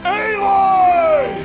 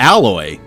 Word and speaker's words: Aloy: Yeah, pronounced Aloy! I thought it would have been pronounced closer to alloy, you know, like the mixture of metals.